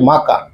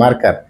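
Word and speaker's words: marker: যদি আমরা এখানে শুদ্ধ ইংলিশ বলি, সঠিক প্রনাউন্সিয়েশন যদি আমরা উচ্চারণ করি দিস ইজ এ মাকা, কিন্তু যদি আমরা এটা বলি বাঙালিরা দিস ইজ এ মার্কার।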